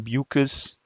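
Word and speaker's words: Beukes: just caming here bucus I asked her how do you pronounce your last name she says bucas rhymes with mucus and over here is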